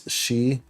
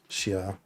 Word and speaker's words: Xiao: They're trying to say, do pronounce it as Xiao. Okay, yeah, okay, I see. Xiao. That's how you're supposed to pronounce it.